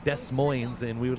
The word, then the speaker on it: Des Moines: The S's are silent.